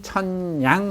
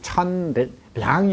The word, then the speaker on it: 천냥: 황금 천냥 할 때 소리를 양이라고 읽지 않고 냥이라고 읽어요. 그렇죠. 우리건 소리가 양도 되고 냥도 되죠. 하나 둘 할 때는 량이지만 이게 돈의 단위로 쓰일 때는 냥이라고 그래. 한 냥, 두 냥 할 때. 그죠? 그래서 천량이 아니라 천냥이라고 읽어야 돼요.